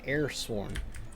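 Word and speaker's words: Heir-sworn: My brain wants to say H, pronounce that, but it's an air. So I have to stop my brain when I'm trying to read it and say, no, not a hair, an air-sworn.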